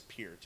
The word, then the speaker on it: Peart: The band officially confirmed that it is Peart. It's P with ear in front. It's an ear with P in front of it. Peart.